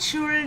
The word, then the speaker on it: should: Not should. L is silent.